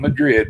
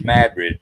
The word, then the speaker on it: Madrid: and uh it's not Madrid but it's Madrid they get mad at you they get rid of you that's how it's pronounced and uh but they